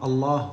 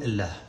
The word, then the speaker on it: الله: متى تقول في قراءة القرآن الله ومتى تقول الله؟ متى تفخم اللام ومتى ترققها؟ كثير من الناس ما يعرف كيف ينطقها ولا يعرف القاعدة فيها. القاعدة أن في قراءة حفص القاعدة أن لفظ الجلالة في كل القرآن مرققة، ما تقول يصلى الصلاة،